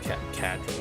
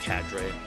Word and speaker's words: cadre: I I tried to listen to how they pronounce it. Cadra. Whatever. Oh, wait. Here we go. Cadre. Oh, it's just Cadre.